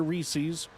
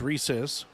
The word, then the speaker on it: Reese's: I don't want to hear Reese's. It's not a thing unless you just can't pronounce the word. It's Reese's.